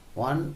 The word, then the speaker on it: one: এটা ভাওয়েল কিন্তু উচ্চারণটা ওয়া, ওয়া হওয়ার জন্য এর আগে এন না বসে এ বসবে।